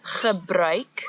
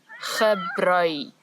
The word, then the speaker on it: gebruik: So the word is gebruik, the ch sound as before, and now we've added a new sound, ui, ui, gebruik.